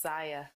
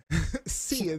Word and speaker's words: Sia: I thought it was pronounced Saya. I believe it's Sia. Sia. Yeah. So yeah, I believe it's Sia. That's what everyone calls her on TV. But Sia, the Australian pop star